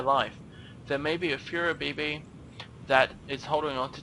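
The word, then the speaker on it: Flabébé: Second scan, which is, oh god, I'm not even trying to pronounce this. Furabibi? Yeah, Furabibi.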